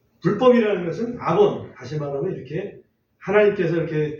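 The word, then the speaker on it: עָוֹן: 아본 발음에 따라서 아본 또는 아원 이렇게 발음할 수가 있는데 아본이라고 그냥 발음할게요.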